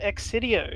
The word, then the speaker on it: Excidio: anyway today's game is called xcidio is that how you pronounce that yes that's the writing for destruction